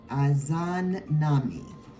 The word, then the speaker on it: Izanami: Izanami. And I may be saying it, pronouncing it wrong.